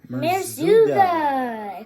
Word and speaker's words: Merzouga: Jenna and Aean's wedding reception in called Marzuga. Good job, P. You pronounced that right.